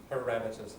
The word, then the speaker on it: parameters: accumulate more information yeah parameters and that's the right pronunciation to not parameters parameters stress I remember Schwab for